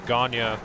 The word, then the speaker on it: Gonyea: Like my last name, Ganya, like people have to repronounce it all the time. It gets mispronounced constantly. It's Gonyea.